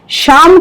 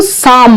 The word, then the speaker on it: शाम: काम करते रहते थे शाम का सही उच्चारण आशुतोष श्याम शम श्याम ठीक बिल्कुल कुछ लोग इसको साम बोलते हैं तो सा और श में फर्क है शाम तक अपने खेतों